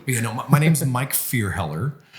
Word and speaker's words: Fierheller: You know, my name's Mike Fierheller. Fierheller, yeah.